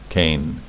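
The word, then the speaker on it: כן: so it's K, K, Cain. All right, Cain. Right, these two dots right here. This nikud is called a tzere, and it gives the what you would call in English the long A sound.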